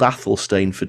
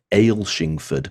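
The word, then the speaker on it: Athelstaneford: um well it's called Athol stainford if you pronounce it the English way if you live in Scotland people will pronounce it differently and they'll pronounce it of Ale shingford and you'll look at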